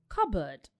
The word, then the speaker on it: cupboard: Well, It is actually pronounced as cupboard, even though it's spelled C-U-P-B-O-A-R-D, which means a board or a table for cups and other things like plates and bowls. The P is silent.